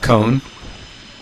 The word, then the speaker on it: koan: pronounce koan? Cone.